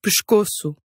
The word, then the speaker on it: pescoço: Or whenever an S is at the end of a syllable, and the consonant after that S is unvoiced. These unvoiced sounds are k, f, p, or t. This gives you words like pescoço.